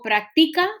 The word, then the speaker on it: práctica: Cuando digo práctica, ¿dónde estoy poniendo la mayor fuerza? ¿En la práctica, practica o practica? Está aquí. Práctica, ¿ok?